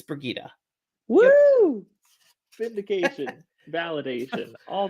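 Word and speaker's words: Birgitte: take it back which is why I said bergita earlier by the way I looked up the pronunciation it is it's brigitta woo fit indication validation all those wait wait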